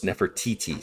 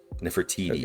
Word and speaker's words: Nefertiti: Is this uh Nefertiti? Yeah. Uh very very close. Nefertiti. So the emphasis is on the first t Nefertiti.